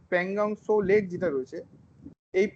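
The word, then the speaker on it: Pangong Tso: আচ্ছা, আরো একটা জিনিস বুঝুন, এই যে প্যাংগং সো লেক, টি এর উচ্চারণটা হবে না, প্যাংগং সো লেক যেটা রয়েছে, এই প্যাংগং সো লেকটা লাল কালি দেবো বলে মুছে দিলাম।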